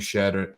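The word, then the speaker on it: Shead: Jamal shed shed shed I think it's pronounced shed um and he was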